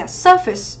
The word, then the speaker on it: surface: Câu số 4 ở đây chúng ta có đáp án A, mình đọc là gì nhỉ? Surface, đúng không?